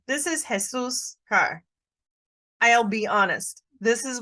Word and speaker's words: Jesus': And sometimes people will try to say Jesus's. This is a little bit tricky on pronunciation. This is Jesus car.